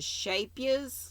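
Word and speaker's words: schaapjes: It's a Dutch word, and I was taught by a person from the Netherlands that how it's pronounced, like shape, S-H-A-P-E, and the second syllable Y-U-S, yes, shapias.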